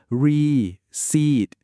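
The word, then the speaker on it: receipt: ว่า ใบ เสร็จ เนี่ย สังเกต มั้ ครับ ว่า มัน มี ตัว P อยู่ ตรง กลาง แต่ เรา จะ ไม่ ออก เสียง ตัว P นะ ครับ ให้ ออก เสียง ว่า reed เฉย ๆ เลย การ ออก เสียง ให้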